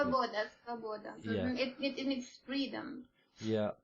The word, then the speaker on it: Svoboda: leader of the neo-Nazi Slavoba party. I may have pronounced that incorrectly. Svoboda.